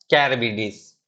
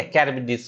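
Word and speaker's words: Charybdis: शीला बोलते हैं और इसको क्या बोलते हैं? कैरबिडिस। ठीक है। कैरबिडिस। ठीक है। कैरबिडिस बोलते हैं इसको, और इसको बोलते हैं शीला। तो याद रखना, बिटवीन शीला एंड कैरबिडिस मतलब क्या होता है?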